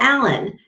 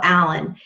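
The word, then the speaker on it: Allin: It is by Michael Allen. Now, his last name is spelled A-L-L-I-N.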